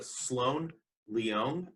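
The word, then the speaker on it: Sloane Leong: to the sun by sloane lyon uh sloan leong i think is how you say her name it's from first second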